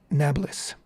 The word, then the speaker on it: Nablus: I'm forgetting now exactly, but Annapolis, polis in Greek meant city, and so the Arabs who cannot pronounce a P but pronounce it B shortened it to Nablus.